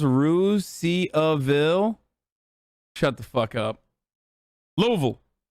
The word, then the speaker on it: Russiaville: There's a Russiaville in Indiana that's pronounced Ruse-Ville.